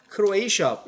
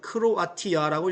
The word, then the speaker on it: Croatia: 크로에이시아, 영어식 발음은 크로에이시아예요. 우리나라는 뭐라고 그래요? 그대로 읽죠. 크로아티아라고 읽으면 됩니다. 그죠?